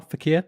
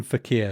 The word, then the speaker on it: fakir: Fakir, F-A-K-I-R, fakir.